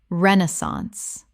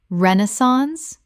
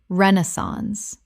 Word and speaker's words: Renaissance: Common mispronunciation. Renaissance. Correct pronunciation. Renaissance, British, or Renaissance, American. Three syllables with the stress on the first.